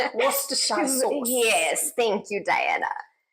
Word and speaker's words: Worcestershire: And the sauce that we don't know how to pronounce, Worcestershire. Worcestershire sauce.